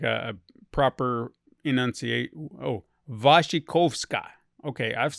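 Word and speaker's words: Wasikowska: able to say her name was kawasca wassi waskawaska Mio waskawaska does that sound right that's what it looks like I'm gonna see if there's a like a proper enunciate oh vashikovska okay I've said it way wrong okay we're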